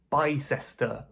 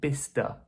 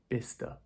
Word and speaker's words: Bicester: Apparently this is pronounced Bicester. Bicester. Yeah. So you'll notice that a lot of these words that end in "cester", the "ces" part is kind of deleted, so it's just Bicester. Bicester.